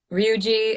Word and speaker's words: Ryuji: which it's funny because ryuji is that micro pronouncing it correctly yes ryuji um is best boy is asking you did you enjoy voicing ryuji and persona 5.